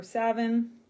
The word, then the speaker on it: Samhain: how to pronounce uh s-a-m-h-a-i-n it looks like samhain um but in celtic or gaelic it's pronounced samhain or savin so i know a